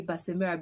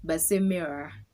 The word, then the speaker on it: Basemera: Meanwhile, how you say my name is in Runyoro, you don't say Basemera because I'm just saying it in English. It's Basemera. That's how you actually pronounce my name in my local language, Basemera.